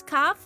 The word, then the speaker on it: calf: They're not silent L's, though. Maybe they are if you have an American accent. Cuz calf rhymes with half. Calf half half a calf.